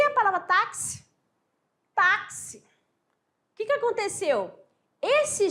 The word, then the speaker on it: táxi: é importante que é é uma letra com dois fonemas ao contrário do LH